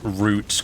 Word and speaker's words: routes: passes you know I'm so glad he pronounced Roots correctly I keep hearing Americans in games and media mispronouncing it this Roots played with enemy ships